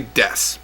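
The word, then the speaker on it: です: Sounds like des, as it says right here. Right here it says sounds like des. The oo is silent.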